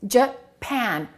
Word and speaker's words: Japan: With Japan and Brazil, the first syllable is reduced and the second syllable is stressed.